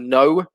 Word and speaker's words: know: we can uh see a silent k in words like knee and no so in the pronunciation there's no recognition of the k sound it exists in the spelling but it doesn't exist in the pronunciation we can also see a